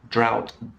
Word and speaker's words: drought: no rain so the drought in africa caused a lot of problems for example so pronounced in the same way that owl plow drought bow okay and the last